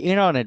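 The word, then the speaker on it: internet: আসছে how many of ইউ এই শেষে কি ইনারনেট বলছে ইন্টারনেট কি বলছে না ইন্টারনেট কি ইনারনেট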